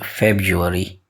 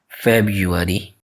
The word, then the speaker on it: February: But its correct pronunciation is February. February.